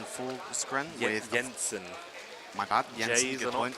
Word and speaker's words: Jensen: My bad, Jensen, J's good are point, not pronounced good point.